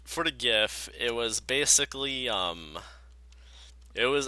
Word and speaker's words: GIF: It was like a animated GIF. I know it's supposed to be pronounced GIF, but seriously. GIF is peanut butter. I'm not gonna call it freaking peanut butter.